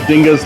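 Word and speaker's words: Dinges: our next place is this place waffles and Dingus and yes it is pronounced Dingus not Dingus like the kid you sat next to in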